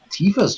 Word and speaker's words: Tifa: It's just that, I mean, if you like large features, and Tifa's just hard to beat anyway. Tifa's cool. Tifa rhymes with FIFA, says TMF.